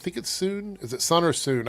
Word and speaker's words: Sun: Soon Zhu said, I think it's Soon. Is it Sun or Soon? I know it's spelled Sun, but I think it's pronounced Soon.